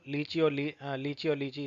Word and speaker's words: लीची: इट is also लीची इस तरीके से प्रोनाउंस किया जाता है।